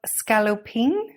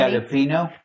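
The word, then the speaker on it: scaloppine: You It does are- mention plate of scallopine. Mhm. Did I say it right? No. Which is just thin meat. Scallopino.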